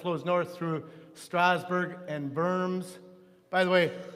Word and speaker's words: Worms: That's the Rhine River, that line that flows north through Strasbourg and Worms. By the way, the W in German is pronounced B, with the V sound.